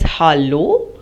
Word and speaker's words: hallo: Notice the difference between the pronunciation between German and English. In German it is hallo, in English it is hello.